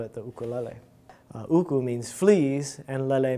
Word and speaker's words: ukulele: Since moving to South Dakota from Hawaii in 2015, Joseph Ahuna has been giving free ukulele lessons to anyone 7 and older. Lesson 1, it's pronounced Ukulele.